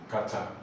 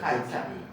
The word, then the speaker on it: Qatar: What's the pronunciation? Kata. Qatar. Yes. Kata.